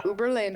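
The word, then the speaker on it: Uberlândia: All right, we got to talk about Uberlandia. Doesn't sound. Did I say it right? Oh yeah, Uberlandia.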